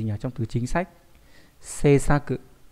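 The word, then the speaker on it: 政策: Seisaku. Đấy, đọc là Seisaku.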